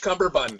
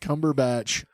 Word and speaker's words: Cumberbatch: Bandersnatch Cumberbund. That's him. Yeah. So the Benedict Cumberbatch Sherlock. I love that everybody has their own way to say his name incorrectly.